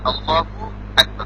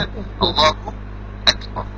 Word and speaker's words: আল্লাহু আকবার: এটা হলো আল্লাহু আকবার, দুইটা শব্দ উচ্চারণ করতে হবে, এটা আপনি বলতে হবে। আল্লাহু একটা শব্দ, আকবার একটা, মিলিয়ে বললে আল্লাহু আকবার।